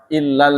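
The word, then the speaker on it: إِلَّا: Artinya ila tanpa tasydid artinya kepada. Illa dengan tasydid artinya kecuali.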